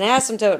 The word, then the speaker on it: asymptote: An asymptote. Very nice. Thank you. Glad you remembered that. Let's see if we remember how to spell it. Remember that silent P in there?